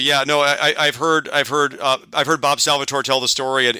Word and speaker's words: Salvatore: Salvatore. Is how I've always heard it pronounced, and I believe how he says it. Yeah. So Salvatore, and if I understand correctly, I feel like